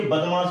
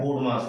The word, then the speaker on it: BODMAS: ये बोर्ड मास है क्या, जिसको बहुत से बच्चे बदमाश भी बोलते हैं। बदमाश नहीं है, इसको प्रोनाउंसिएट करने का तरीका है बोर्ड मास।